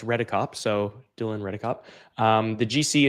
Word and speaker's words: Redekop: So pronouncing my last name is basically as it looks, Redekop.